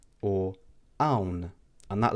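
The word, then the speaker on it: hawn: Next, we have the akka, which is also a silent letter in the Maltese alphabet, and this is also not pronounced.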